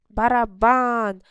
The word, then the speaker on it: барабан: Гітара, барабан, три склади, барабан. На останній склад наголос.